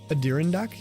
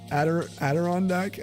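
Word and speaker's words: Adirondack: Aderondac. Oh. Oh, wait. Aderandac. What the heck? That's like way more. Add a rand like the chairs.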